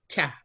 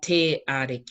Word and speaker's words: te Ariki: So it's how it's pronounced is tia, tia. Yeah. You're not going te ariki. You can because it fits. But we actually go tia. Yeah. Tia. Yeah. Rather than te a.